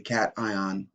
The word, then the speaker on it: cation: charged you'll notice that we kind of don't pronounce the words properly like normal English this is a cation and this is an anion because well because